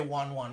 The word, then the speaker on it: wan wan: You can say wan wan. That's the correct pronunciation. Is to say wan wan.